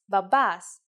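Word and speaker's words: μπαμπάς: The word is babas. Let's write it. Babas. If you notice that mi and p together actually sound like b, you were right.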